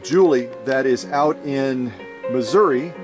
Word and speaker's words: Missouri: that is out in missouri missouri as many missourians say it uh if she's really